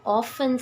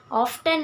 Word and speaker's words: often: There is a lovely lady whom I have often seen. Many of them used to pronounce it as often. Often is not a correct pronunciation.